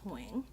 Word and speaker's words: Nguyen: Like with the accents in Vietnamese, it's Nguyen.